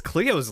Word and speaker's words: Cleo: is but what was Cleo's last name oh Leo not Chloe sorry yeah Cleo Cleo Cleo he did say Chloe yeah the thing it